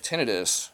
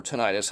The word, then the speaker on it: tinnitus: If the idea of tinnitus, or tinnitus, however you want to pronounce it, according to the official